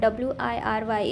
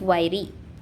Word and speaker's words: wiry: hit, sit that is wiry. I uh how the I is pronounced in sit, seat, e. So wiry. The word is pronounced wiry with the stress on the first syllable.